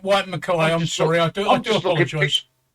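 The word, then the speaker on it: Whyte & Mackay: It's pronounced White Mackay.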